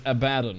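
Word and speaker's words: Abaddon: killed obser before no no one pronounced abon correctly it's abadon right but that sounds like some British version thing actually it's Abad as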